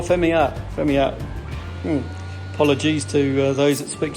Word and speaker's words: Familia: And we're having a Corona Familia. Well, I haven't pronounced it correctly, but how do we pronounce it correctly there, Armando? Oh, Familia.